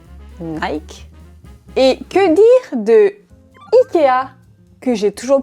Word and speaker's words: IKEA: Et que dire de Ikea, que j'ai toujours prononcé Ikea, alors que la moitié de la planète prononce ce magasin IKEA.